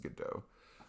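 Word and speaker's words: Godot: that's how you say it's spelled with a T at the end like G do but I think it's pronounced good do I have it on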